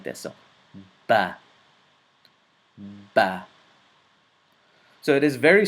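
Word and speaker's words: ب: This is the letter ba. One more time, the letter ba. It is pronounced from the lips, so it is a lip letter.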